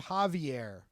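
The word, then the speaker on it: Javi-Air: with deranged against they they pronounce his name Javier but it's written have Dash air it's it's Javi Dash a oh okay yeah Javi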